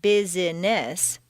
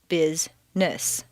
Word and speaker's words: business: For example, business is not business, but rather business.